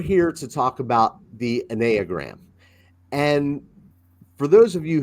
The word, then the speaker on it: Enneagram: The exact pronunciation, and I guess I'm a mild snob about this because I am Greek, is Enneagram. Enneagram is the Greek Enneagram.